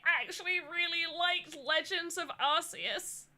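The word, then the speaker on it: Arceus: I will say controversial take is I actually really liked Legends of Arus. Archus, however you say his name. I always say Arus because it's funny, but I'm pretty sure it's Archus.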